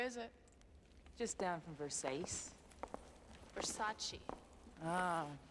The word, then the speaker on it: Versace: too nice dress thanks it's a Versace it's Versace what Versace pronounced Versace oh you want to walk down a spot go get something to eat where is it just down from Versace Versace ah right Versace oh yeah